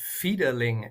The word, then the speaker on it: Fiederling: Do you want to pronounce it for me? It's a first question asking in German. Yeah, it's Fideling actually.